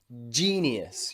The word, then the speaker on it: genius: einstein was a genius listen carefully g genius you've got that j e nius genius he's a genius okay